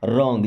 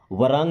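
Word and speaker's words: wrong: समझना मी मींस मुझे रंग देखिए डब्लू साइलेंट होगा ना आर के पहले डब्लू आएगा तो डब्लू साइलेंट मतलब नहीं पढ़ा जाएगा इसे क्या पढ़ते हैं रंग वरंग नहीं रंग डोंट गेट मी रंग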